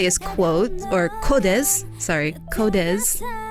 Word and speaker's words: QODES: quote or codes sorry codez that's how you pronounce it it's spelled q-o-d-e-s and their song la